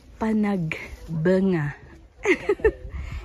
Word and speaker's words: Panagbenga: sabi daw bunga blooming Hindi po benga Panagbenga pero ang correct pronunciation daw po Panag banga gets niyo po sila